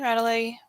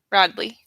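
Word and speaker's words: Radleigh: angel tarot cards by dorian virtue and valentine radi what how do you say his name oh broadly valentine right it's like the spelling always throws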